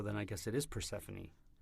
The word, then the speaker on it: Persephone: Not much, but uh yeah, that's the E is you pronounce the E at the end. So, Panie is the Greek goddess of sunshine.